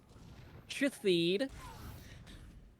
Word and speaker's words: Shithead: Shithid. It is spelled S-H-I-T-H-E-A-D.